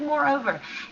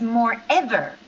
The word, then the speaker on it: moreover: The linking word moreover. I I hear your pronunciation is more ever, but actually it's over. So, we say more and over, like two words, moreover, okay?